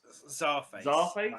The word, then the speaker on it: Czarface: face sees a face sorry face I pronounce it as yeah so like a Russian Czar and face at the end of it and uh the song